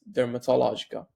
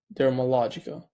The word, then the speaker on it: Dermalogica: Think Glossier meets Dermatologica. I think Dermalogica. Yeah, that's how you say it.